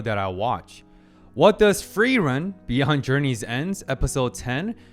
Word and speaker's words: Frieren: more and yes Rejoice because I'll be properly pronouncing Free Run's name in this episode finally let's tune in